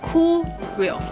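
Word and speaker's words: Curél: 叫做 Kureo Kureo Kureo Kureo 的一个日本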